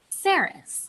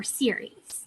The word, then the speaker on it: Ceres: And this one is called Ceres, or Ceres, depending on the pronunciation that you're using.